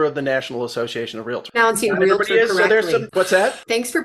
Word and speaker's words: Realtor: you're a member of the National Association of Realtors what's that thanks for pronouncing realtor correctly realtor yeah the other one